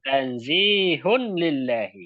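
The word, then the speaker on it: تنزيهٌ لله: Nah, وفي هذا وفي هذا الدعاء وفي هذا الدعاء تنزيه الله ini لله bacanya tanzihun lillahi ya. Tanzihun. Ini تنزيه dhammatnya berpisah.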